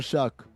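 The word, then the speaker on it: Shough: Also, Tyler Shuck, spell your name right or pronounce it right?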